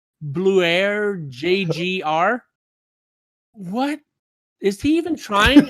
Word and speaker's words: BLUAIRJGR: I cannot pronounce this guy's name. Okay, it's Bluer JGR.